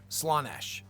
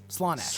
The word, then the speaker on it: Slaanesh: Tell me I've been saying it wrong. I will fucking scream. It's Slaanesh, right? Don't say Slaanesh. Is it... Why is he saying it like that? It's Slaanesh. So is this just a troll? I mean, to be fair, they do spell it with 2 A's, it seems.